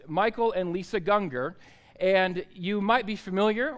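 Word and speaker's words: Gungor: it's Michael and Lisa Ganga and you might be familiar with the band Ganga or I always called it dung Gore cuz that's how it looks but it's not I learned it's Ganga okay it's Ganga so I'm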